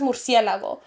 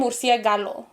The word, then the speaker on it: murciélago: like, first of all, she's not even pronouncing it right. Yeah. She's like, because my mom says murciélago, but she was saying murciégalo.